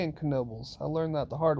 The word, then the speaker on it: Knoebels: take a look at kenobo and yes you do pronounce the k in knobles i learned that the